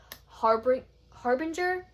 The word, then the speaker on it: Harbinger: This is book 1 of the Harbinger series. That's how you pronounce it.